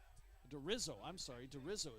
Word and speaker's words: DeRizo: And DeRizo is how his name is pronounced.